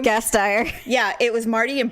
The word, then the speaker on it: Gasteyer: Will Ferrell and Anna Gassmeyer, however you say her name. Gasteyer.